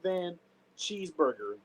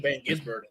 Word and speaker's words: Van Gisbergen: His name is Shane Van Cheeseburger.